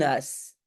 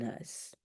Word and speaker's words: huis: une maison, un huis, mais en fait, je ne prononce pas la H. Donc, en fait, je devrais écrire comme ça, un huis. Ik woon in een huis. Ik woon in een huis.